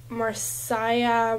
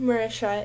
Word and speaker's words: Marysia: people's nicknames people just tend to mispronounce my name so like I get marsah Maia Mary Saia Mary uh I really like Mar Mari Misha actually my name Marisha is like technically a